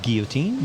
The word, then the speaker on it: guillotine: But it's true, you know, you just ignore most of the letters.